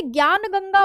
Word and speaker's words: ज्ञानगंगा: Next है ज्ञानगंगा वन्य जीव अभयारण्य। इसमें जो स्पेलिंग आप इंग्लिश में देख रहे हैं स्पेलिंग बिल्कुल सही है। बस इसमें डी साइलेंट है।